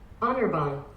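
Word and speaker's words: Anirban: Honorbahn.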